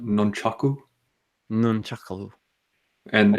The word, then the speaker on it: nunchaku: pamphlets for comfort yes you know they're actually pronounced nunchaku none chuckle and it's yeah I'm pretty much